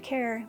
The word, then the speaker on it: Kheir: and by the way i love how your last name is pronounced care because you really care about what you do